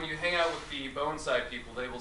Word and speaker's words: bonsai: you hear people say Bonsai which is fine it really doesn't matter to me some purists might get a little worked up about it but it's actually pronounced bonai not Bonsai I think um that's